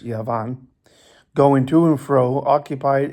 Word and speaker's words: Javan: Dedan also and Yavan, that's Yavan with a J. Yavan or Javan, I believe it's pronounced Yavan, going to and fro,